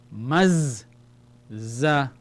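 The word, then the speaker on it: مَزَّقَ: Then the za again, because it has a shadda with a vowel, fatha. Maz za qa. We have to pronounce the za twice. The shadda indicates the letter is twice. So the letter is saying, join me and call me again.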